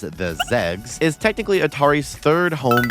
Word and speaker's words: XEGS: Atari XE gaming system shortened to xegs and personally pronounced as the zegs is technically atari's thirdd